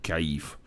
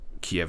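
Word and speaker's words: Kyiv: of kiev or sorry kaif i've learned recently that kiev is actually not the way that we pronounce kev so even if the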